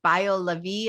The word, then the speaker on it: BioLaVie: now i want to talk all about what bio levy am i saying it right yes i want